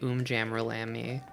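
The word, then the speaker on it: Um Jammer Lammy: We We've It's um Jammer Lami, right? I'm pretty sure it's supposed to be Om Jammer Lami cuz that's how they say it when the title comes up.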